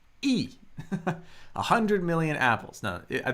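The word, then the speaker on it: 一: So in Chinese, E, that's how we pronounce 1.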